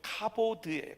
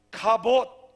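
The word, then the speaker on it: כבוד: 이왕 배우는 김에 가봇, 우리가 우리 아이들 발음식으로 카보드예요. 카보드. 카봇.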